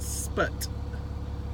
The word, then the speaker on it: Sput: A lot of people have a hard time pronouncing it. Sput. S-P-U-T. If you're an older person, 50 on up, you remember the Russian satellite Sputnik.